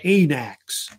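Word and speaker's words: wanax: here, they're called an anax. Usually the W is silent. And an example of an anax type ruler was King Agamemnon, you may have heard of, who was the king of Mycenae.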